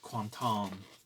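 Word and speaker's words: Quentin: the one that's there film by quanton theur apparently that's how you pronounce Quinton quanton I think that's another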